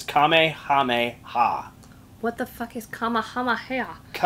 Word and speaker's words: Kamehameha: He spelled it phonetically. It's Kamehameha.